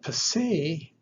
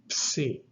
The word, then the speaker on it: Psi: Now, Psi is like the letter P combined with an S sound.